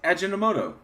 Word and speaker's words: Ajinomoto: Ajinomoto. Ajinomoto or some shit. Ajinomoto. All right. Okay, so I guess this is where they are frauding. Their First and Second Amendment. You can't pronounce that. It's Ajinomoto.